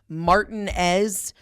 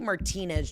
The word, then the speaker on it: Martinez: anybody from Augusta it's I know you guys pronounce it martinz martinz Georgia it's actually Martinez Georgia and I as someone from Georgia I